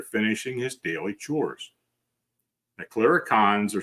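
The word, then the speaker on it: clurichaun: A chiricon is stealing your spirits. A clericon, I'm sorry, that's how it's pronounced.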